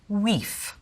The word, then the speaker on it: wife: The word for wife would be pronounced weef.